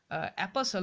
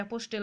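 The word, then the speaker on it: apostle: what would সার্জিয়াস দা অ্যাপোসাল উচ্চারণ ঠিক আছে অ্যাপোস্টেল বা কিছু এরকম উচ্চারণ নয় অ্যাপসল বলতে পারো অফ হায়ার লাভ তাহলে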